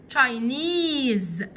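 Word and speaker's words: Chinese: ايجيبشن تشاينا الصين تينيز خلي بالك الاس هنا هنطق كانها زد علشان بين حرفين متحركين الاس كانها زد تشاينيز تشاينيز صيني فرانس فرانس فرنسا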